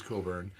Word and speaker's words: Cockburn: i know don ross knows i know bruce coburn bruce cockburn that's how it's spelled you are out of control and uh